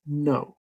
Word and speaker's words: know: Okay, even though it begins with a K, the K is silent. No.